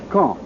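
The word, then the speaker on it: Caen: Berlin says that the first center of gravity in these reported military operations is Kong. I'll spell that C A E N.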